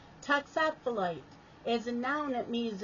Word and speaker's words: toxophilite: other word of the day is toxophiliti failure pronounce it talks off the light toxaphilite yes I was wrong toxophilite is a noun it means a student or